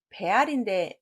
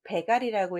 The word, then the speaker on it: 배알: 네, 답은 배알인데 배갈이라고 읽으신 분 없나요? 자, 높거나 존경하는 사람을 찾아가는 걸 우리가 배알이라고 합니다. 벨알이라고 읽으셔야 돼요. 갈 발음 아니에요.